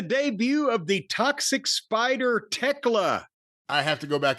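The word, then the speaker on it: Thekla: It's Techla. Theckla is what her name is.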